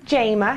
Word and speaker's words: Jama: well my name is Jamma a lot of people I want to start with that it's pronounced J like Jamie but I grew up